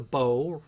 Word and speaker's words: bow: The bow rhymes with toe.